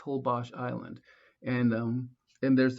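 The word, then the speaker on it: Holbox: whole bach hobok island wait how do you say that ho bash yeah hol box holbosh island and um and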